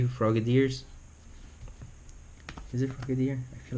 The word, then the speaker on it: Frogadier: Is it Frogadier?